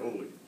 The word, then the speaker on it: Oleg: You pronounce your name Oleg or Oleg?